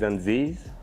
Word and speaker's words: Anziz: My name is Anziz.